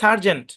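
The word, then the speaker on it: Sgt.: এর মূল শব্দের উচ্চারণ ছিল সার্জেন্ট, ঠিক আছে।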